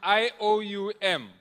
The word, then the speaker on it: IOUM: Then from IOUM, if you leave the OM, you pronounce it IOU.